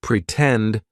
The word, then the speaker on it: pretend: sound pretend for example in the word pretend the stress syllable starts with t tend pretend right so